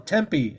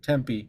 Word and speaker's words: Tempe: Well, Tempe, I think it's the correct pronunciation. Tempe, Arizona.